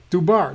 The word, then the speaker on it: Dubar: So the pronunciation-wise, the V is a D. It's pronounced D. And then this letter right here is pronounced B. And this one is pronounced R, according to Dr. Robert Schock. So that's Dubar. That's how it's pronounced.